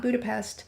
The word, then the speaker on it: Budapest: The tour guide in Budapest, that's how she told us to properly pronounce the city name, not Budapest, Budapest.